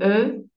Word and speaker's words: eu: Eu. D'accord? Eu. Oui, c'est un peu bizarre la lecture au niveau de la prononciation, mais c'est comme ça.